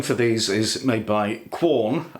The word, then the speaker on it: Quorn: So the filling for these is made by Quorn, or some people pronounce it corn.